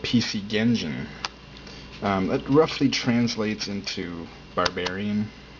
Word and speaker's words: PC Genjin: The cool thing is PC Genjin obviously rhymes with PC Engine.